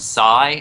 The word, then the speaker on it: psi: runs a a a thing called this week and sigh and that's spelled PSI for kind of for